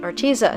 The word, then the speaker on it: Arteza: been saying it, and I thought it was pronounced that way too. But then I was watching a commercial actually put out by Arteza, and the girl in the video pronounced it Arteza. So I'm trying to teach myself to say it a different way.